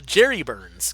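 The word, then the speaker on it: Jere Burns: name is actually pronounced Jerry Burns. Oh, right. Even though it's J E R E, which you would swear would be pronounced J or Jer.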